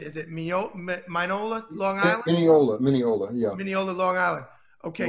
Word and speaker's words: Mineola: Mineola, yeah.